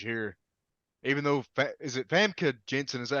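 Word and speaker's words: Famke Janssen: Even though is it Famke Jensen? Is that how you pronounce her name?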